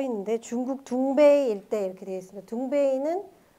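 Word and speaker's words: 东北: 자, 정확하게 말하면 둥베이라고 여기 써 있는데 중국 둥베이 일대 이렇게 되어 있습니다. 둥베이는 여기 이제 중국에서 유학 온 학생도 있을지 모르겠는데 동북을 중국식 발음으로 하면 둥베이라고 한다고 하죠.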